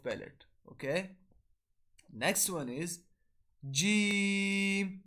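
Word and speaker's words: ج: So the method of pronouncing Jim, Sheen, and Ya is these letters are pronounced when the center middle of the tongue touches the opposite palate. So we'll pronounce it like this. Repeat after me. Jim, Sheen, Ya.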